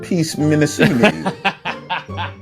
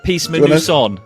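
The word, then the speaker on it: PEACEMINUSONE: Are you sure that's not pronounced Peace Minnesota? I can keep this in the podcast, but I don't want you to look silly. No, is the problem. No. So I don't know whether you want to pronounce that. Do you want to say that properly? Yeah, sorry, it's the Peace Manusan.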